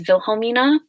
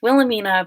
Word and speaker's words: Wilhelmina: my family is german my name is vilhomina not just so um it's spelled with a w but nobody like knows how to spell it like everyone just thinks it's wilhelmina but it's not it's wilhelmina and actually i got